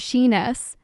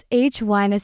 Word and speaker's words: shyness: For example, someone said shyness as shiness, but practiced saying shyness stress on shy.